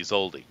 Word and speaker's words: Zoldy: Not Goldie, Zoldy.